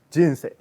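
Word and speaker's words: 人生: 이는 진, 생은 새이니까 새 장음 진세.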